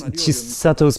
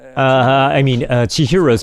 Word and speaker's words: Chihiro: So at 9 minutes, Chisato's parents, Chihiro's parents, I keep saying her name wrong.